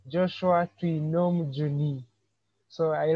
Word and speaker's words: Twinomujuni: all i would like to appreciate how you pronounce my name joshua trinom juni so i like it the way you say it so um once again i'm joshua juni uh a student at maker university pursuing bachelor